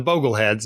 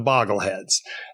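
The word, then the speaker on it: Bogleheads: Jack Bogle and so as followers are the Bogle heads not the boggle heads and if you've only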